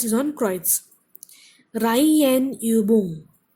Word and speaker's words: Reihenübung: Reihenübung. Reihenübung. So the stress is on Reihe.